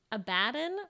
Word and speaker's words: Abaddon: what's in a name abaddon pronounced like aladdin meaning doom a place